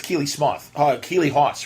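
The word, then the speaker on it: Keeley Hawes: It's Keely Keely Hawes, right?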